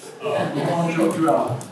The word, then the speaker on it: Okonjo-Iweala: Okonjo Iweala, if I'm correct in your pronunciation. You're close. We are. Okonjo Iweala.